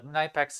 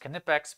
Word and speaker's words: Knipex: first of all uh knifex is is pronounced knipex because it's german and that's how they pronounce it um and then we're